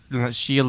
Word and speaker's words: Shia: Shia LaBeouf. Listen, Shia is the more French pronunciation.